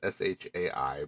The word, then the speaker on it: Shai: I had a conversation on Blue Sky the other day with I don't know if you pronounce it Shy or Shay. It's Shai, but they frequently post